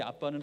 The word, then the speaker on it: 아빠: 되어 있죠 애플이 여기서 이 아빠는 한국말 아빠가 아니고요 이 아람어 방언 에 그대로의 아빠입니다 한국말과 발음이 똑같기 때문에 있듯 거의 비슷하죠 그냥 우리가 아빠 아버지